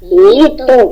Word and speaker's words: літо: дарує нам все це літо Літо Ну нічого відгадку літо ділимо на склади літо Скільки у нас частинок мова старого наголос літо наголос упав у нас на першу голосну добре ну а зараз